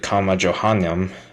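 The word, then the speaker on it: Comma Johanneum: The verse, known as the Comma Johannem, I believe that's how you pronounce it, is not found in any of the earliest Greek manuscripts up to the 9th century.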